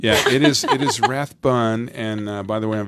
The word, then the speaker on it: Rathbun: your best friend that knows you bike in Rathburn when I call I know how to pronounce it so I'm good so the big maybe she really does know him yes it is it is Rathbun and by the way I'm very happy to